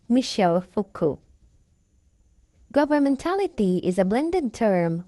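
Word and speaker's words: Michel Foucault: Again the name is pronounced Michelle Fuku.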